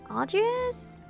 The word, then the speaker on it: Audrius: Audrius? That's how you pronounce his name.